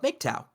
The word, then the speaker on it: MGTOW: It's the phonetic pronunciation of Migtown, right? Mm-hmm. So actually, as whenever I do a branding standard, I capitalize the acronym MGTOW, and I leave the I and the N as small letters.